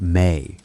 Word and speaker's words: me: He holds the mi pronounced may.